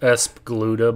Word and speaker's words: ESP Galuda: Millennium case in point ESP galuda yeah I know it's supposed to be pronounced ESP guda but I think ESP galuda sounds a little better well not a direct